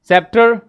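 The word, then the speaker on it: sceptre: टे look into that सी के अंदर सेप्टर एज यू कैन सी here we आर not using सी here again scissor we आर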